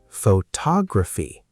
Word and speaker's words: photography: Photography. Now, the stress moves to tog. Photography.